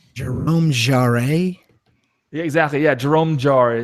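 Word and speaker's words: Jérôme Jarre: Yeah, Jerome Jarre is how you pronounce it.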